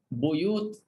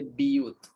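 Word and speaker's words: بيوت: A seperti untuk qiraat Ibnu Amir, kalimah buyut bagi Ibnu Amir dibaca biyut. Biyut tak ada formula. Ini kena ingat aelah. Ah buyut dibaca biyut.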